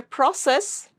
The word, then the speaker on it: process: Before your process, it's a verb. So you'll stress on the second syllable.